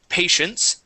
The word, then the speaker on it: patience: Let's go to patience. Okay, make sure to pronounce that S sound at the end.